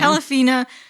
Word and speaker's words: Pelafina: Pelafina, yeah. Pelafina, she was talking about how she gave birth to a baby, and when he was born, he couldn't breathe.